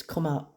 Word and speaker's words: Kamala: Just Murphy telling me that about how to pronounce Kamala's name, and apparently it's Kamala.